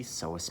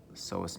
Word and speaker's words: psoas: here we can see psoas major so the p is silent psoas major runs from the